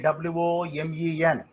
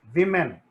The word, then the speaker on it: women: There is a suggestion that Y should be pronounced as E. So, for example, A-N-Y, any, B-U-R-Y, bury, P-R-E-T-T-Y, pretty, naked. Similarly, W-O-M-E-N, women, not women.